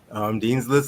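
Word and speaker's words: Dean's Lyst: Dean's List, like you're on Dean's List at school, except List is spelled Lyst.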